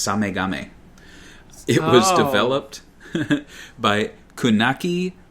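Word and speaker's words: SameGame: how you say it it's spelled same game but it's samagame it was developed by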